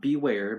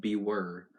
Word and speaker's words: Bewere: Not Beware, but Bewere.